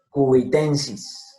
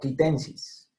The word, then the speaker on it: quitensis: Cubitensis, Gralaria cubitensis, no quitensis.